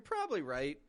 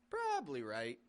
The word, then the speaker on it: probably: right you're probably right we still do Peak our voice up on the pr probably right we maintain that stressed syllable however we also drop a syllable from the middle of the word you're probably right we're